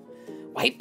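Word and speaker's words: Wyper: Dr karea and a wiper wiper I just say it like Scyther there's just no other way right like that's just the only way that's the only respectable way to do it you got chess biscuit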